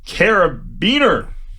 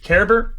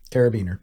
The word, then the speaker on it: carabiner: Next up, oh god, the metallic carabiner. Caraber? I've never have to say this word. Carabiner. Carabiner. I nailed it the first time. That doesn't feel like the right way to say it, but it is.